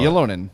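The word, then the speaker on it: Ylönen: centering rafhael Harvey pinard and Jesse is it lonan I want to make sure I say it right yeah yonan you just made up that four I did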